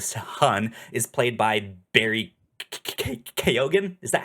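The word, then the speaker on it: Keoghan: that that character, the son is played by Barry Kogan. Is that how you say his name? Um you Yeah, you pronounce the G very gently. Kyogan.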